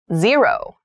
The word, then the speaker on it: zero: Zero. Zero. Zero. So zero is used to refer to the number, which means nothing. So we also read this as O sometimes.